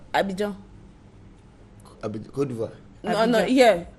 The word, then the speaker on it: Abidjan: How do you pronounce Abidjan? Côte d'Ivoire. No, yeah. Abidjan.